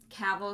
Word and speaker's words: Cavill: frankie means you're saying that cavill is pronounced like travel so it's but then